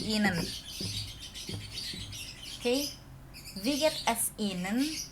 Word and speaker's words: Ihnen: I-nya juga nggak dipakai jadi Ihnen.